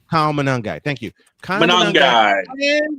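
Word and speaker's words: Monangai: I can't pronounce the fellow's name. Kyle Manangai.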